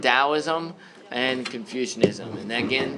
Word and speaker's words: Taoism: it's good Confucianism and Daoism Taoism it's pronounced with like a hard D soft T sound Taoism and Confucianism and then